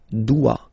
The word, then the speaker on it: dois: Okay, remember final S is not pronounced. Je dois. OE, when you combine the two, you get the sound wa wa wa.